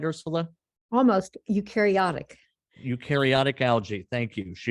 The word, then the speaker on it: eukaryotic: Louis, where she engaged in research on eukaryotic, did I pronounce that right, Ursula? Almost, eukaryotic.